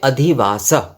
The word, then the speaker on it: अधिवासः: जो उच्चारण है तो उसमें अधिवास इसके लास्ट में जो है मतलब अंत में जो है इसमें विसर्ग आ रहा है और अधिवास इसके